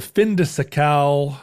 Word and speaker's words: fin de siècle: This is a moment where the fin de siècle, or how did we decide we were pronouncing that?